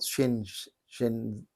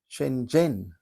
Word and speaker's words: Shenzhen: It looks like it's spelt Shenzhen, but it's not. It's a J sound. Shenzhen is how they say it.